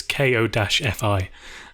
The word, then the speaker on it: Ko-fi: I think it's pronounced coffee, but I have no idea. It's Ko-fi.